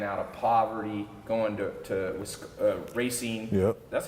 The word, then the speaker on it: Racine: you know rising out of poverty going to Racine yeah that's how you pronounce very soon Racine Wisconsin and then you